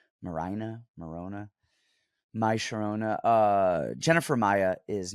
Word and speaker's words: Maryna: You guys always make fun of me by the way I pronounce names, but Maryna, why not just Marina? I mean, I guess she's Ukrainian. Maryna.